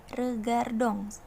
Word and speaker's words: regardons: Nah, konjugasi verbe nous untuk regarder adalah regardons. Belakangnya ada huruf ons, dibacanya ong. Kalau dalam bahasa Prancis, ingat ya, belakang huruf on itu dibacanya ong.